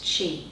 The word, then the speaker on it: Qi: why I call it key is because I'm a Japanese translator and uh that's the pronunciation that they would use key for energy as opposed to Chi the Chinese way so again they blend